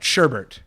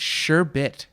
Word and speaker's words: sherbet: of time all right sherbert you say sherbert sherbert sherbert its sherbet sure bit yes sherbet I would have thought that sherbert like sherbe like it would be like a silent E what's that stuff that